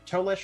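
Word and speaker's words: Tolese: for five minutes uh toelish is t-o-l-e-s-e correct correct yep it's very phonetically spelled um so she ran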